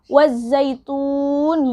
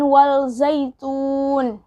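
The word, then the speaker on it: وَالزَّيْتُونِ: juga ya sama-sama wazaitun jadi bacanya wazaitun bukan wall zaitun karena ini juga alif lam syamsiah ini alif lam tidak berharokat di dan sirih dari alif lam syamsiah adalah dia punya tasdid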